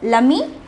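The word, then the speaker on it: l'ami: It is either lami or lami. The pronunciation is the same.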